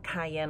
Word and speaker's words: 啟茵: And then cayenne, like I said earlier, is just a phonetic spelling or pronunciation of my Chinese name, which is Cayenne.